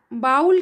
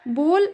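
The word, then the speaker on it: bowl: इसका सही pronunciation till है जैसे कि हम बाउल कहते हैं ये गलत प्रोनंसिएशन है बोल सही प्रोनंसिएशन है टावल यह गलत प्रोनाउंसिएशन है।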